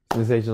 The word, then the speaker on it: Senseition: Sensation on all streaming platforms too. Go ahead and get that. It's spelled Senseition.